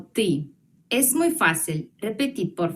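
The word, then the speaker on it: ты: a pronunciarlo y ya tú se pronuncia como ti es muy fácil repetir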